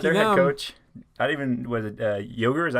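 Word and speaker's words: Joerger: Was it Yoger? Is that how you say his name? The old head coach for the Kings? Jaeger.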